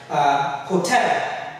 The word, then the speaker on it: hotel: Words like hotel. It's a noun, it has two syllables, but then the tell is what we express.